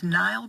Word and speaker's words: Knial: Wow, and it is Knial, and I have to tell you, Knial is spelled with a silent K.